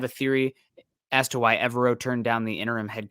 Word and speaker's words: Evero: I might be pronouncing the first name somewhat incorrectly as well, but Ejiro Evero is how I've always said it. Forever Evero has been my little monicum to remember how it is.